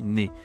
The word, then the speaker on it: nez: Ici, on dit pas naise mais on dit né parce queen français il y a beaucoup de consonnes à la fin d'un mot qu'on ne doit pas prononcer.